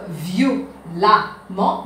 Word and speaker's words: violemment: Il vient donc violemment. Même si nous écrivons E ici, cette prononciation c'est amant, violemment.